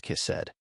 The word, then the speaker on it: hesed: That phrase steadfast love in Hebrew that's the word has right exactly pronounced kissed and Stephanie you can't just translate this with